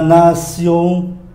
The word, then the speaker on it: nation: À, chúng ta qua cái âm nữa là âm sion, viết bằng T I O N mà đọc là sion, nó khác tiếng Anh nhé. L'invention, l'invention, ba âm mũi này, l'invention, phát minh. La nation là quốc gia, la